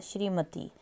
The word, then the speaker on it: श्रीमती: sound आती है श्रीमती श्रीमती जब बोलते हैं तो हमारी त पर बड़ी की मात्रा की साउंड है श्रीमती उसके बाद निरोग निरोग